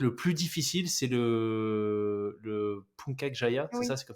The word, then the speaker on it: Puncak Jaya: Et en termes d'accès, que le plus difficile, c'est le Puncak Jaya, c'est Oui. ça, c'est comme ça que tu le prononces, Ouais, Puncak, Punta Puncak.